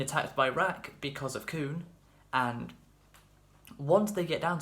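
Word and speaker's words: Khun: We have a guy called Coon, and no, that's not racist, because it's not spelt C-O-O-N, it's spelt K-H-U-N.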